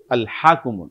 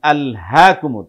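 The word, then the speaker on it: ألهاكم: কিভাবে? যেমন আলহাকুমুত, এটা কোত্থেকে হচ্ছে? হলকের শুরু থেকে, তাই না? আর যেটা হা সেটা কি? হলকের মধ্যখান থেকে।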